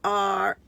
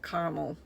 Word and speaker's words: caramel: pronounce c a c-a-r-m-e-l how would you pronounce that i call it caramel you got any caramel to go on that ice cream that's how i would say it some people call it carmel it's whatever you it's whatever you want